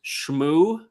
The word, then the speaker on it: Shmuel: It's Shmuel. Shmuel. Yeah, think of like Shmuel.